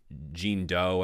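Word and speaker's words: Jean Deaux: So I'm and Mick Jenkins, like that's like Jean Doe, I believe is how she pronounced her name.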